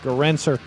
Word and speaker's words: Gerencser: Life and Times of Bruce Garinser. It's pronounced Garinser.